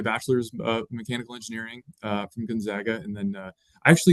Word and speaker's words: Gonzaga: Um it's the big basketball school that everyone uh seems to mispronounce their name. It's Gonzaga.